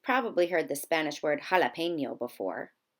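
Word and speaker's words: jalapeño: heard the Spanish word jalapeno before did you know that it started with a J here are a few other Spanish words that begin with the letter J but with an H sound Hammond jabón ki Rafa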